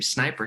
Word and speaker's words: Snip: john how do you say your last name sniper snip snip john snip what's up man i